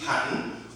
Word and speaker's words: patent: So, what we call P-A-T-E-N-T, patent, or some persons pronounce that patent, right? So P-A-T-E-N-T, patent, and as I said to you, that some persons pronounce it as what? Patent, and also what we call what?